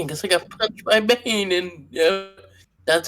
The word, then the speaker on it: Bane: Bane rhymes with pain.